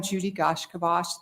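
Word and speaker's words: Judi gaiashkibos: Okay, so I am Judy Gashkivash, the Executive Director of the Nebraska Commission on Indian Affairs, and that is spelled JUDIGAIASHKIVOS.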